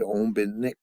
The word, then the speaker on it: Ombinik: That's why you got to say the last syllable most clear. Ombinik.